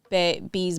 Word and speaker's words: Bea: I always say Bay because I read it first as Bay, but they say B in the book. Oh, I say Bea. It's B in the book. It's spelled like BEA.